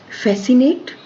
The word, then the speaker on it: fascinate: Fascinate, even if C is not here, this is giving the full sound fascinate, so C is silent here.